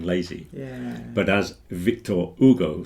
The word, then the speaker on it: Hugo: I won't pronounce the H because I presume he's French without an H. Hugo.